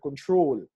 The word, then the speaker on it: control: such as the word control controls if you notice the stress is on the last syllable which is the troll syllable control in such cases